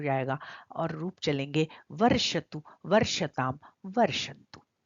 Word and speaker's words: वर्षतु: देखिए यहाँ पर जो श है वो मूर्धन्य श है, श नहीं है, तो उसका उच्चारण हमें जहां से हम ट ठ ड ढ न बोलते हैं, वहां मोड़ के जब हम जीव को लगाएंगे तो इस श का उच्चारण होगा उषा, ऋषि, और निशा, शांत। दोनों श का अंतर समझ के हमको इसका उच्चारण करना चाहिए।